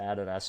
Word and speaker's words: Adidas: you toas yeah well you say Adidas but we say Adas over in the land down under Adas yeah you